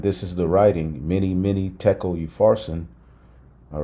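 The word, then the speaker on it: תקל: collider, LHC, that formed a single word in the ancient Hebrew language, thachal, pronounced as tekel, and basically means you have been weighed on the scales and found deficient.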